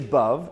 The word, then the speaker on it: Bhav: is bhavnita mussie and bub is right here in the front um and so her name is bub it rhymes with love and so love with a bee and would love for